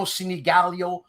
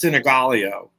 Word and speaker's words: Sinigaglio: So you know why it's the G can be, both G's can be silent. So some of the family doesn't pronounce either G.